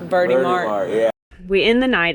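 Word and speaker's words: Verti Marte: We really just wanted to know how to pronounce it. Oh, Verdi. Yeah, it's Verdi Mart. Verdi Mart.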